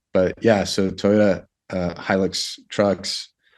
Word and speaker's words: Hilux: us around the Helix trucks I mean it's pronounced Helix uh or Hilux right anyway I've heard it both ways I read it as uh Helix but I had a guess the 4x4 guest